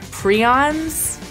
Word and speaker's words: Prions: Prions, I'm not gonna say what they are, it's important to the book, but just know I did not make that word up.